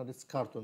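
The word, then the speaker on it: Ritz-Carlton: أعلى فندق في العالم يدعى فندق ريتس كارتون، وريتس كارتون كارلتون دي أخوانا، ريتس كارتون اللي هي ما بتنطقش ال في النص، المهم ريتس كارتون ده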